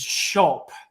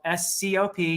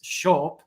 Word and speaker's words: scop: a Bard although the word for Bard in Old English is shulp it's spelled s-c-o-p don't let anyone ever say scop because that is not how it's pronounced it's shulp and that simply means